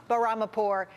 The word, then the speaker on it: Bahramipour: Here to weigh in, Peter Morici, economics professor at the University of Maryland, and Bob Bahramipour, the CEO of Gigwalk, a company helping businesses hire temporary workers.